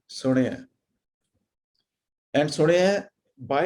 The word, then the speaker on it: ਸੁਣਿਆ: ਅਡਾਣੇ ਨੂੰ ਸਿਹਾਰੀ ਹੈ, because it is very difficult to differentiate Ranana with a Sihari and a Bihari if we say Suniya. So Suniya would be with a Sihari and Suniya would be with a Bihari. So since it is Sihari, so we would say Suniya.